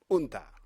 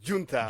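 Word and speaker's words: Gunta: They call them unta. Unta. G-U-N-T-A. Unta. Huh. Yeah. Okay. Yeah, I pronounce it junta. Junta. But most of the people unta. Unta. Okay. So, So the correct is unta.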